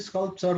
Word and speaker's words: sculptor: Who is the sculptor then? Sculpture, okay, difficult to pronounce, eh? You have to properly listen. Sculpture, but sculptor, okay, yes, sculptor.